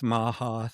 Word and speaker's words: MAHA: And we're starting to see now with MAHA, the Make America Healthy Again, Rhymes with ha-ha.